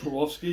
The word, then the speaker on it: Swarovski: And much more recently, the Swarovski, is that how you pronounce it? Swarovski, yeah.